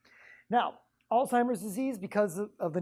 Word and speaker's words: Alzheimer's: has Alzheimer's disease but the way they're pronouncing it so fast I thought it was old-timers disease so anyway that was my introduction to Alzheimer's disease now Alzheimer's disease